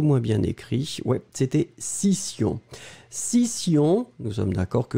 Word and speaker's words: scission: Ouais, c'était scission. Scission, nous sommes d'accord que vous l'écrivez S-C-I-S-S-I-O-N. Scission. Allez, on va faire les deux. Le premier, A, session, une session. Le deuxième, scission, une scission. Session, scission.